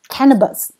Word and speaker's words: cannabis: 好，第一个名词 cannabis。好，重音在最前面，你抓到